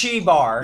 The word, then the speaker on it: Xigbar: yeah, it's spelled with a Chi, yes. Fucking Christ. So, Xehanort, It's Chi Bar.